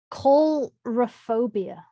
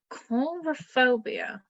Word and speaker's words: coulrophobia: Coulrophobia. Coulrophobia.